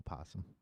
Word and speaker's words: possum: just talking about animals is it possuma oh possum it's all possum nobody says well I won again I've never met anybody calls it opossum I don't know why I spelled like that okay so here somebody